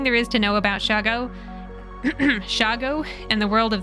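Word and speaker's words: shoggoth: figure this out because I was reading shago spelled s-h-o-g-g-o as shogo as if it were Japanese or something when you pronounce it shago it sounds a bit like Chicago sped up or abbreviated abbreviated like nolens instead of New Orleans I actually figured it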